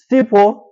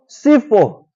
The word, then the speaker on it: Sipho: S-I-P-H-O. What happens if you say that with in English, if you read that, S-I-P-H? Sipho. Now if you say Sipho in Xhosa, it means, Mnumzana Poni, Sipho means poison or disease.